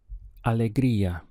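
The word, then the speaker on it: Alegría: estar aqui otra vez the word for joy in Spanish is Alegria we have aa lay crea Alegria in English if you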